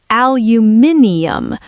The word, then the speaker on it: aluminium: In the UK, we say aluminium. Five syllables. It's rhythmic. Aluminium. See, that sounds like a magic spell from Harry Potter. Aluminium leviosa. In America, we just say aluminum. Four syllables. The stress is different.